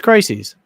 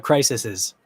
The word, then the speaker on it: crises: say it crisis crisis it's crises apparently crises so it's not crisises it's crises and that's your educational